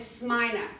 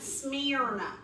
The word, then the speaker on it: Smyrna: I've heard a lot of people pronounce it Smyrna. Like I'm smearing something.